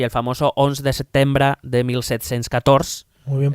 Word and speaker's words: setembre: de Sucesión Española y el famoso 11 de setembre de 1714. Muy bien pronunciado.